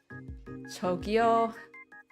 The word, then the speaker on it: 저기요: 저기요. 저기요. So a bit more like a ch sound than a j sound from what I can hear.